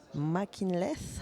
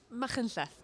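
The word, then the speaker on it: Machynlleth: You come from the little village of Mackinleth. How do you pronounce that? Machenleth, but that was a good try.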